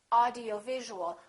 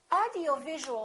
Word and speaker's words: audiovisual: long word like this audiovisual audiovisual has six syllables audio visual in that case you really it's very important to know which syllable is stressed in this case it's going to be right here audio visual audio visual how do we stress a syllable we make it longer and louder and higher in Pitch audio visual now let